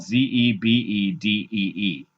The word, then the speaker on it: Zebedee: So anyway, we start with a song called Sons of Zebedee. So it's spelled Zebedee. So, but when they say it in the song, it's Zebedee. So Sons of Zebedee.